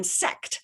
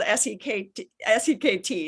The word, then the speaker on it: Sekt: A discovery is German Sekt, and that's spelled S-E-K-T.